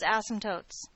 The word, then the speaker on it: asymptotes: Now, there's some rules about the words asymptotes, okay? Number one, we don't need to unnecessarily stress the first syllable of this word.